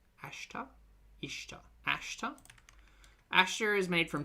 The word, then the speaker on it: ashta: It starts with an a, not an i. Ashta. Maybe she's maybe I'm pronouncing it wrong. Ashta. Ishta.